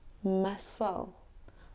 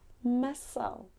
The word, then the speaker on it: muscle: do you think hm it's actually pronounced musle musle M muscle I go to the